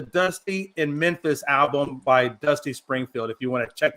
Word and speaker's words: Dusty Springfield: I mean, and I did say her name wrong. I wanted to make that right. So, it's Dusty Springfield.